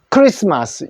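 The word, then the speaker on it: Xmas: generation 그러나 주의할 거 요거를 어떻게 읽어요 렇게 읽으면 안 됩니다 그냥 크스마스 크리스마스 요렇게 읽어 줘야 돼요 왜냐하면요 x 자는 그리스 문자로 우리 크리스라는 뜻입니다 그래서 크리스마스라고 표현한다는 거고 십시 자 그다음에 이제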